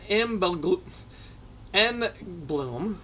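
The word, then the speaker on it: Engblom: a lot of these brian m and bloom we'll just the g is silent on that one ron delormy i'm putting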